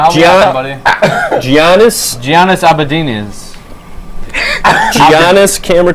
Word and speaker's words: Antetokounmpo: Giannis Abadinas. Giannis camera 2. Giannis Antetokounmpo.